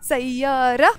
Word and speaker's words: سيارة: We will say سيارة سوداء because سوداء is a color. It's an adjective in Arabic. So we don't pronounce the T of the word سيارة.